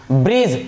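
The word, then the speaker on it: bridge: ब्रिज, ब्रिज नहीं ब्रिज, क्या पढ़ेंगे ब्रिज, इसको बी आर आई डी जी ई, ब्रिज।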